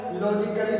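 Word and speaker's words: logically: किसी भी वर्ड में यदि ए आता है और उसके बाद डबल एल वाई आता है तो उस कंडीशन में ए को साइलेंट करके उस वर्ड का उच्चारण किया जाता है।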